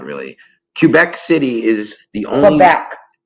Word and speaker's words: Quebec: Quebec. It's Q-U is Qua, like quiet.